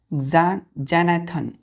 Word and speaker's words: xanthan: Pronunciation देखिए कैसे करते हैं, जैनेथन, जैनेथन, जेनेथन, जेनेथन। क्या पढ़ेंगे इसको? जेनेथन, जेनेथन, XANTHAN, जेनेथन, है ना?